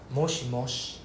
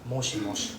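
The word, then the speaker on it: もしもし: Moshi mosh, right? The I sound is silent. Moshi mosh.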